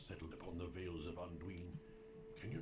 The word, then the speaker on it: Anduin: I don't know why he says Anduin. That seems a little odd. I would think that if he wanted, for some reason, that is, if Tolkien wanted us for some reason to pronounce that I long like that, he would have accented it.